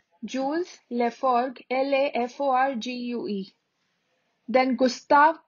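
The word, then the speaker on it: Laforgue: paul berlin arthur rimbaud arthur rimbaud then jules leforg jules leforg l-a-f-o-r-g-u-e then gustav khan gustav khan g-u-s-t-a-b-e k-a-h-n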